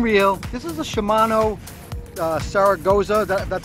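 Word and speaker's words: Saragosa: This is a Shimano Saragoza. That's how you pronounce it.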